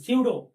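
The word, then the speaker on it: pseudo: English में कहते हैं सूडो reaction सूडो P silent होता है ठीक है अब जैसे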